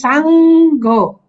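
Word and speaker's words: saṅgho: h o two syllable s a n g first syllable g h o second syllable so it's Sango Sango yes ah so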